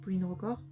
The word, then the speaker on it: Pauline Record: Je crois qu'elle prononce pas le D, hein. Pauline Record.